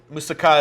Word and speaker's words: moussaka: And I think most Americans say Moussaka. That's what I thought. Yeah, it's so one is Moussaka is the Greek, you know, the emphasis on the last word, whatever.